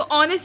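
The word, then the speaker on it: honest: तो ऑनेस्ट से पहले हम ए यूज़ करते हैं, वाई, क्योंकि वहाँ पे ऑनेस्ट का जो एच होता है वो साइलेंट होता है, ऑनेस्ट ओ साउंड करता है वो, इसलिए वहाँ पे एन यूज़ करते हैं।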